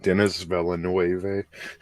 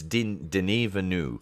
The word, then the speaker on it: Denis Villeneuve: I would have pronounced that Denis Villeneuve.